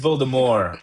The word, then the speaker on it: Voldemort: It's Voldemort, by the way. Natalie and I have been listening to the thing. It's the T is silent.